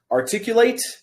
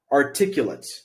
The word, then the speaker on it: articulate: so the difference is articulate articulate two different sounding words it is the same word but it is pronounced differently depending on what part of speech it is once again articulate articulate